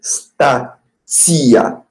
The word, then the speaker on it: stația: Et attention à la prononciation de T. C'est statia, comme TS en français.